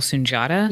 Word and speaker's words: Sunjata: lead actors on it including I can never pronounce his last name Daniel sunjata is it yep that's right so I'm willing